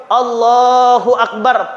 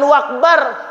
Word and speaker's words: Allahu akbar: harus betul Bapak Ibu Allahu akbar pakai Alif pakai Hamzah jangan jadi wau Allahu akbar ah salah ya maka anak-anak kita ini kita Ajari kita perhatikan kita awasi Bacanya apa Allahu akbar jangan wakbar dan juga n jangan